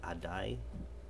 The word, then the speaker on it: A DAI: guy and its name is a d.a I pronounce it I die and she and one other knife maker there